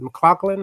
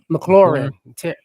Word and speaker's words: McLaurin: McLaughlin. How you say his name? McLaurin.